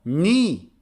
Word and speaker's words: knee: few years now now silent k is mostly used in the beginning of some words here's another example knee knee the part of